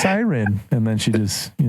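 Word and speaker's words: SYRN: It's called Siren, but it's spelled S Y R N. So, Jeff can't pronounce this I don't blame you. Cern.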